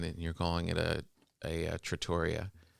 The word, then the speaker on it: trattoria: Here in our trattoria. Trattoria? Someone attacked me online and said, "It's how dare you? You say you're Italian and you're calling it a trattoria." It's a trattoria.